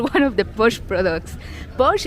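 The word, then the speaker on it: Pox: Posh is spelled P-O-X, but it's Mayan.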